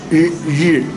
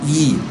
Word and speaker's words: ri: Ri, is pronounced ri, not E. Not E, not ri, ri.